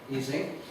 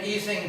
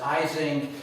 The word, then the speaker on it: Ising: hans e singh right as a german he pronounced his last name easing he was a graduate